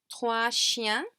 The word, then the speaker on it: trois chiens: Trois chiens, trois chiens. And the S is not pronounced in either word.